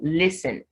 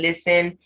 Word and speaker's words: listen: So listen, because the T is silent in listen, doesn't change the S to Z.